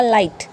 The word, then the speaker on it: light: LIGHT तो यहाँ पे क्या आ गया बेटा, आई, तो आई क्या है, एक वावल है, तो वाई के बाद में, आई के बाद में जी आया है, तो हम इसको प्रोनाउंस नहीं करेंगे। LIGHT क्या होगा, लाइट। BRIGHT ब्राइट, क्योंकि वावल के